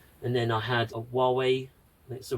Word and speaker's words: Huawei: And then I had a Huawei, that's the right pronunciation, hotspot, just the actual really small, just a hotspot.